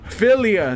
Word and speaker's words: Filia: Filia, that's how you say it.